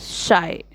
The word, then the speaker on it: Scheu: Answer, the correct pronunciation of the poet's name is Scheu.